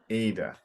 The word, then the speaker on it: Ada: yeah, remembering that in English the emphasis is up front instead of Ada. Ada.